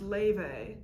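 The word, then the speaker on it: Laufey: alex this is a review of apparently it's pronounced leyvay it's spelled loudly um first studio album i'll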